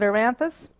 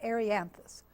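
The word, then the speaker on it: Erianthus: talk about this pronunciation, I had this reading pronunciation of this one, and in my mind I was calling it Aranthus. I was talking to my friend Ted Carpenter one day, and he was talking about Arianthus. And I thought, what's he talking about? And finally I thought, oh yeah, that's the same thing, Arianthus Rivini.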